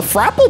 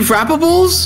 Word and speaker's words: Frables: new limited edition um how do you say it uh a frapple bar yeah you mean frables yeah frables yes exactly you want to try